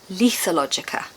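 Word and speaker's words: lethologica: Sorry, I've just checked Google and it's actually Lethalogica.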